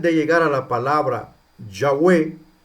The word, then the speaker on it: Yahweh: Entonces los masoretas cuando construyen el canon del Antiguo Testamento, lo transcriben, le agregan vocales al tetragramatón YHWH para que se pronuncie Yahweh, ¿verdad? Yahweh.